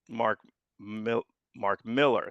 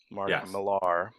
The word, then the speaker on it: Mark Millar: And you were there, and I missed Mark Miller. Speaking of mispronouncing, Mark Millar.